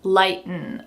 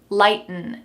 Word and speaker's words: lighten: includes these words so we're going to kind of swallow the last sound light n lighten to lighten up hm